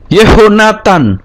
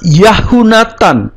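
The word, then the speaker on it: יְהוֹנָתָן: tau khamets Nun final yehonatan tidak yahunatan atau yahnatan ya kata yah yang di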